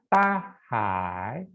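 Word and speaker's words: 大海: Ya, bacanya tahai.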